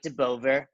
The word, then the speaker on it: Deboever: are in Montreal CrossFit why you will de Beauvoir that's it that's usually a mistake when they pronounce my name Lord you can bend mean